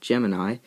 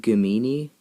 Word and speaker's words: Gemini: I'm trying to make shouldn't it be pronounced goo meanie like that's kind of what the board looks like and up until this trip that's how I thought it was pronounced but I sent it